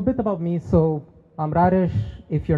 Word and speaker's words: Rares: So I'm Rares. If you're not sure how to pronounce that, imagine like a radish with like an R in the middle.